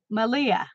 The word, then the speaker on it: Malia: playing along so oh it's pronounced like Maria so Malia okay good she's into